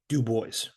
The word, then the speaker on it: Du Bois: And that is how he pronounced his name. Uh, do boys.